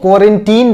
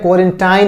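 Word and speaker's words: quarantine: ठीक है, इसको क्वारंटीन बोलते हैं, क्वारंटाइन नहीं बोलते हैं। ठीक है, बहुत जगह हम सुनते हैं क्वारंटाइन, क्वारंटाइन बोलते हैं, लेकिन इसका उच्चारण क्या होता है, इसका प्रोनाउंसिएशन क्या होता है, क्वारंटीन होता है।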